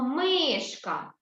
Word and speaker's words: мишка: приголосні позначаються рисочкою одною а наголос на який склад у нас падає наголос на який склад падає на перший чи на другий на перший так ось на склад ми ми кажемо мишка так мишка молодці дітки